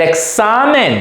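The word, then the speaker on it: examen: on the a ex but remember the the X must sounds like a must must be like the S examine so don't say exam examine examine then Los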